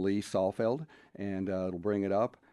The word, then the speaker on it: Saalfeld: And it is spelled, for people, it's Saalfeld, Salfeld.